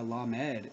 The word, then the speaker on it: Lamed: It is strange also how Lamed is pronounced La-Med, this showing the duality as soon as it is taken into consideration as a separate letter.